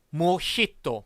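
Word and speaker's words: mojito: 쓰지 않고 이렇게 씁니다 모히또 보시다시피 제이를 써요 그런데 스페인어 단어 기 때문에 뭐지 또 가 아닌 몫이 또 라고 발음을 해 줘야 되요 그런데 우리가 모히또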